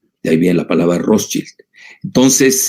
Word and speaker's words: Rothschild: de la banca Rothschild, o Rothschild, como lo quieran pronunciar, si lo pronuncian en alemán o en inglés estadounidense, porque los británicos lo pronuncian diferente, pues él fue empleado de la banca Rothschild. Entonces, yo lo digo a la alemana, más que a la estadounidense, que saben ustedes, se